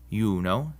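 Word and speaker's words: Iuno: If a word begins with an I and the next letter is a vowel, like in these words, it's actually a consonant and sounds like our Y. So these are pronounced yam, yuno, and yaktatus.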